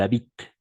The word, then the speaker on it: habitent: Alors, la phrase affirmative, ils habitent, d'accord? ENT à la fin, on ne prononce jamais.